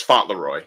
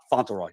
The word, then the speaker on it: Fauntleroy: Delighted to be joined by JB, James Fauntleroy, if I'm pronouncing that right. It's Fauntleroy, yeah. Oh, Fauntleroy, my bad.